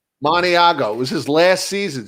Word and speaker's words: Maniago: Maniago.